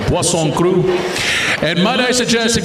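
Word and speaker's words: poisson cru: How many have you tried Pson crew? Oh yes, Pson. If you see it on the menu, it looks like poison, but it's how it's spelled only with two s's. But pon crew.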